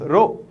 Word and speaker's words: rho: as rho rho okay spell is rho and it's pronounced as row simple so mass as